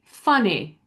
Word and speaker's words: funny: So instead of saying funny, it would be funny, funny.